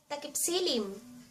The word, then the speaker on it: takipsilim: from our page and ----- let's do some pronunciation review. So, let's start! To say nightfall in Tagalog, takipsilim.